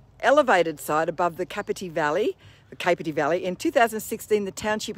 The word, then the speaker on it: Capertee: Yeah, Capertee Hotel.